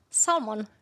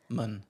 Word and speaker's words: salmon: Salmon. Yeah. So, the L is not pronounced at all. Salmon.